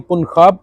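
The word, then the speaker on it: Punjab: जे जो है स्पेनिश में इसको हम कहते हैं खोता। तो इसकी जो प्रोनाउंसिएशन है, इसका जो तलफ़ुज़ है, इसका मखरज जो है वो खे का है। जीम चे हे खे, खे खरगोश। तो पुनखाब।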